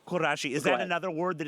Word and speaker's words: Kurashi: not she's got a new book out called karashi at home how to organize your space and achieve your ideal life I'm so glad I could give her a plug I do believe it's pronounced kurashi kurashi is that another word that is being used